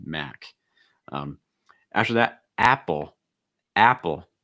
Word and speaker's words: Apple: um after that apple apple a sound like at or cat so it's not ah